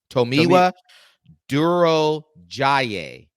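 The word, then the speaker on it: Tomiwa Durojaiye: I went there and this is the pronunciation it's to mewa to towa tomiwa Duro Jay Duro Jay Duro Jay we're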